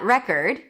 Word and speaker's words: record: Here the red is the primary stress as in red. Record or it's a world record, right? Same pronunciation. Record or I need to record it. R then it's awah cord. All of a sudden, it's an O sound as in for record.